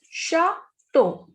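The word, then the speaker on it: château: Next is chateau. CH is sh, so it is chateau.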